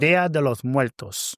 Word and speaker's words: Día de los Muertos: Dia de los Muertos.